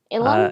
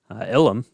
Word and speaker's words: Ilum: how to say this is it Lum or ilum ilum uh ilum I think yeah that's how that's